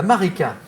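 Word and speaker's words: Maritsa: La Marika. Ah non, non, ça s'écrit Marika, mais on prononce Marika.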